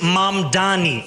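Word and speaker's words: Mamdani: And furthermore, the name is Mam Dani. M A M D A N I. You should learn how to say it because we got to get it right.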